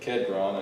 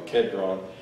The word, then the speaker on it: Kidron: Probably should pronounce that Kedron. In the Old Testament, it's in the King James, it's spelled Kidron, so it's probably Kedron.